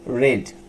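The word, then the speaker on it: read: দে আর ভার্বের ভিতরি, ভার্ব ছিল আমার রিড, তাই হবে রেড, আর ইএডি। সেম স্পেলিং কিন্তু ডিফারেন্ট প্রোনাউন্সিয়েশন এবং ডিফারেন্ট ফর্ম। রেড।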